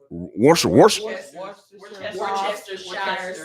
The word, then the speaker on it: Worcestershire: I can never pronounce this right. Worcestershire sauce. Yeah, Worcestershire.